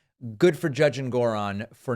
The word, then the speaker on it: Engoron: Good for Judge Engoron, who I guess I've been pronouncing his last name Engoron incorrectly. Apparently it's Engoron. Good for Judge Engoron for not going for this.